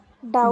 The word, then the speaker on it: doubt: Then here Doubt. Doubt. D B silent. silent. is B silent.